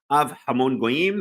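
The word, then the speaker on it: אב המון גוים: Av Hamon Goyim, that's how you say it.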